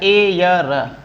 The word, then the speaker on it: heir: इसका जो प्रोनाउंसिएशन होता है वो होता है एयर, एयर।